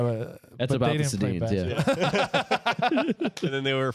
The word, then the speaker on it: Sedin: DJ Ringside, you got the Seddins. Is that how you say it? Oh, the Sedins.